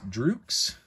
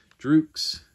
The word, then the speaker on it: Drux: Next is drooks. It's spelled out D-R-U-X. It makes the N sound, the letter N. It's equivalent to the English letter N. Droux. And here's how you would pronounce it.